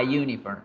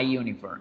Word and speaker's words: uniform: Yo debo decir a uniform, a uniform, a uniform, a uniform.